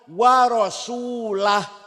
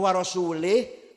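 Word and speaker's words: ورسوله: dan tidak melindung Rasulullah eh salah salah bacanya harus anallahum Minal musyrik wa rasulah artinya apa kalau warasulah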